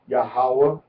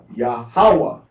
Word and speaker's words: Yahawah: Now, we can pronounce it three different ways. We can pronounce it with the accent on the second syllable, which is most common in Hebrew, or we can pronounce it on the third syllable, or we can pronounce it on the first syllable.